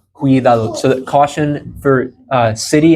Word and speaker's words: cuidado: And there's that hard C sound, just like how we would have, think like cumin, like the seasoning cumin, cuidado. So that C carries the same pronunciation there.